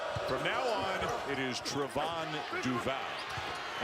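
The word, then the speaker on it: Trevon: he his name is actually supposed to be pronounced Trarevon, not Trayvon or Trayvon.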